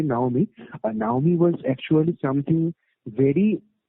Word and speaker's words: Naomi: But Naomi is actually, so not Xiaomi. That's my mispronunciation. Actually, Naomi.